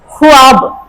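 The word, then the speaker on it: خواب: और उसके साथ वुल्ला अब यहां क्या लग जाएगा ख को पेश लग जाएगा छोटा ऊ है और इसको व को लगा देंगे व को क्या लगेगा लकीर साइलेंट करने के लिए ठीक और ब के लिए बे तो क्या बन गया ख्वाब ठीक है ख के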